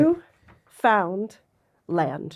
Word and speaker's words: Newfoundland: Newfound land. Oh, Newfoundland. Okay, I think how you said it. Newfoundland.